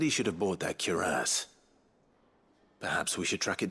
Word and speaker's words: cuirass: I've always said cuirass, but they're going like cuirass. Like heavy emphasis on the ass part.